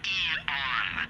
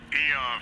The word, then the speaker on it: Aeon: It's pronounced Eon. Eon for eagle.